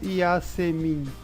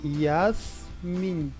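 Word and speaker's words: יסמין: Note que os dois pontos é o E curto. Então, eu não leio Yasemin. É Yasmin.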